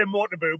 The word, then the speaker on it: Motobu: How do you say it properly? Motobu? Cumbrian accent. I would say Motobu, but either's fine.